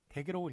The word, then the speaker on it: 댁: 그렇지만 본택, 시택, 댁내라고 하는 것은 댁이라고 읽는 것이 맞고 뜻밖의 댁이라는 것이 한자였다. 그래서 그 한자를 잘못 읽은 것인데 어쨌든 댁이라고 읽는 것을 맞게끔 하였다. 본택, 시택, 댁내 할 때는 댁이 맞고 오히려 택이라고 본택이라고 쓰면 틀린다.